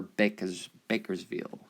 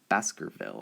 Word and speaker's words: Baskerville: I always like Georgia or Bakersville. Baskerville, I guess is how you say it.